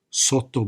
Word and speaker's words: sotto: She says, "You have to pronounce both T's. Sotto, sotto, sotto bicchiere. You hear that? 2 T's.